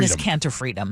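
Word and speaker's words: Enes Kanter Freedom: Inis Caner Freedom.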